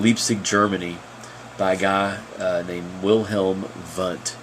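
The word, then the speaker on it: Wilhelm: germany by guy they will helm but it's spelled with W but is pronounced like V and there's a picture of mr.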